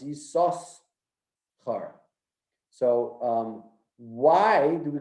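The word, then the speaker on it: Yissachar: yourself are there's actually the real way of pronouncing this name is yi there's two sins over there it's not you saw her it's isos so why do we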